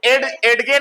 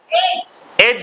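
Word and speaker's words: edge: डी क्या होगा silent तो यहां क्या पढ़ोगे एड ग नहीं ऐसा नहीं एड है एज है क्या है एज प्रिया माम का एक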